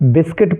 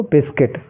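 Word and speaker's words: biscuit: आई टी इसको हम बिस्किट पढ़ेंगे क्योंकि इसमें यू साइलेंट है और यू का कोई भी उच्चारण हमें नहीं करना है ठीक है क्या पढ़ेंगे इसको बिस्किट ऐसे ही देखिए बी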